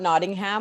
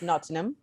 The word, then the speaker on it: Nottingham: It's not Nottingham like I called it when I first went there. It's Nottingham. You don't pronounce every syllable in the word.